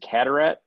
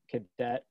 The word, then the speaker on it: Carteret: I've heard cadet, carrot, Carteret. Carteret, from Montreal, French.